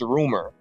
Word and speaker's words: Rmr: name I guess this his name is rumor but the way you spell it is RMR so I've been listening